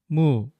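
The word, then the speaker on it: 무: In Korean, radish is called mu. We write this one-syllable word by putting the Korean letter that sounds like the English M above the vowel U.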